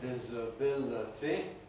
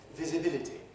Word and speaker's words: visibility: enlarge at the bottom visibility is humility daniel jones 100 years ago pronounced it as if i can imitate visibility disability within each syllable disability but it would sound very funny and old-fashioned nowadays to say disability